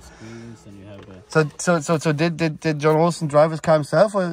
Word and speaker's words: Jon Olsson: Jon Olsson.